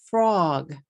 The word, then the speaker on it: frog: Next, frog. How many syllables do you hear? Frog, frog, frog. I'm saying 1 syllable. But if we say it in katakana, it's going to become 3 syllables. Fu, ro, gu.